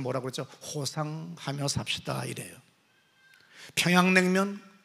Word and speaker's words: 평양냉면: 평양냉면, 우리는 그렇게 얘기하지만 피양냉면이 역시야 맛있다는, 똑같은 단어지만 뜻이지만, 이 사람이 피양냉면 이렇게 발음하는 걸 보고 이 사람이